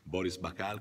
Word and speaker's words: Boris Bakal: Boris Bacal qui accanto a me, ho detto bene la pronuncia?